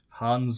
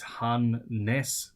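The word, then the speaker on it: Hannes: my pronunciation of the Hans Bridge uh he says Han Ness Bridge similar to the word harness without the r Annas uh it's a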